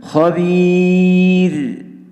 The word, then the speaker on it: خبير: Pada kalimat khabir yang kebetulan di sini waqaf, maka hati-hati pada pengucapan huruf ra. Jadi berhenti pada ra yang disukun di sini, kebetulan di sini adalah tipis, tetap harus dimunculkan suara ra yang kecil.